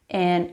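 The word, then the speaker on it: ע: They are both pronounced like the letter Aleph. So we pronounce the letter Ein, A.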